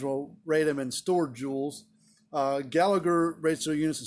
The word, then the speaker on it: joule: or some people pronounce jowl because it's j o u l some people e some people sometimes say jowl but pronounced jewel some brands will rate